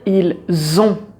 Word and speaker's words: ils ont: être ils sont mais quand tu as le verbe avoir tu vas dire ils ont et là tu as le son Z Z ils ont parce qu'on fait la liaison tu as ça aussi